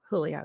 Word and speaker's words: Julio: The J is an H, right? Julio, yeah.